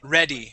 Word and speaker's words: ready: When you add that Y on the word, that is short E, ready.